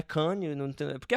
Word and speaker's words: Cannes: A pauta de hoje é justamente uma matéria que saiu no Cannes, como se faz isso aí?